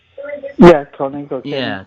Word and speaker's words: Koenig: Walter Koenig, I think is how you say it. Yeah, Koenig. Okay. Yeah, Koenig.